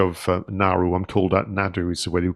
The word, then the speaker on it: Naru: with the character of narrow I'm told that Nadu is the way you pronounce it in incrementary I was looking at